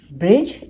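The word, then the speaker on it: bridge: ब्रिज, इसमें D silent होता है, पर ये तीनों एक साथ लिखे थे।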